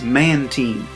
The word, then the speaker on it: Mantine: the official pronunciation is Mantine the combination of manta ray and marine I don't much like